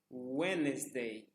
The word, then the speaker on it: Wednesday: Então, Monday, Tuesday, Wednesday. Ignora-se o D. Apenas é utilizado para escrever, mas não para ser pronunciado. Então, ignorando o D, lê-se Wednesday, Thursday, Friday, Saturday.